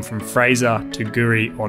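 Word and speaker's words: K'gari: intensely correct although it reads kagari it's actually pronounced Guri and it means paradise and that's what the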